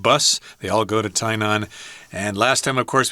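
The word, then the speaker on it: Tainan: again we're talking about tyon I should mention that some people may say tyan uh because that's how you pronounce that in English sometimes so be prepared for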